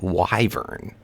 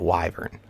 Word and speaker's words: wyvern: to say it so I guess it's called wyvern you'd pronounce it like that wyvern I think that's right